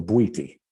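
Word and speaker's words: Bwiti: it's a tradition from africa um called the buiti and it's spelled b-w-i-t-i and it's a it's a tradition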